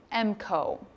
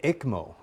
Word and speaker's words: ECMO: And what is an EMCO procedure? Am I pronouncing that right? The ECMO. ECMO. The ECMO.